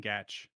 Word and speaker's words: Gach: It is Gach. Gach. It's very Okay, you counterintuitive.